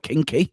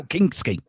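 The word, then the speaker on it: Kinsky: On the bench, we've got Kinky. Now Kingsky. Damn you, Tequila. You said it right the first time.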